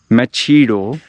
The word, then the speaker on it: Machedo: go with M EO machido but I'll pronounce it with h silent what a genius idea